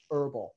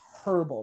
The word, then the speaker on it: herbal: They say that we pronounce it herbal, that we drop the H. It's herbal. There should be a hard H right there.